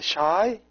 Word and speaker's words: chi: The Chi is pronounced sh, the sh sound, and the Lada is the l sound.